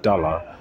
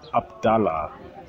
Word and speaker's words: Abdallah: your name right because sometimes I just call you dollar but Abdullah that's that's that's the right that's the right pronunciation yeah yeah I mean